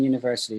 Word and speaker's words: university: look at this here the u in university is pronounced with the long u which sounds like you and is written as